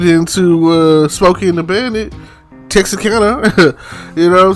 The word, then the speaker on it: Texarkana: I'm Texarkana, man. Texarkana, that's where I stay.